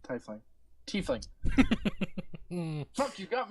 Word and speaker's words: Tiefling: She's a Tefling. Tiefling.